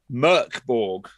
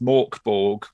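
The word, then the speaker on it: Mörk Borg: It's available in 5e, D&D 5e, or in Merkborg, also pronounced Morkborg, or whatever way you want to pronounce it, really.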